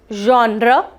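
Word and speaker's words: genre: इट इज जॉनर. ज sound है, ज नहीं है, ज नहीं है, ये दोनों का मिक्सचर है और ये है ज. जॉनर.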